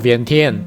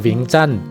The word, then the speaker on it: Vientiane: 虽然英语读作 Vientiane，但是这个拼音其实是法文写老挝语，所以应该读作 Vientiane。